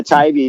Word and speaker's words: Tybee: But my next question was going to be, how do you pronounce that? Because I've seen it on your posts like Tybee. I don't know. Yeah, Tybee.